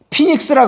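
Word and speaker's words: φοῖνιξ: 피닉스라 그러잖아. P-H-O-I-N-I-X. 자, 포이니크스라는 헬라어가 라틴어로 발음할 때 이렇게 된단 말이야.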